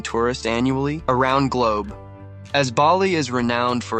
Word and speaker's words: Bali: the correct pronunciation is Bali with an emphasis on the first syllable bali's unique climate offers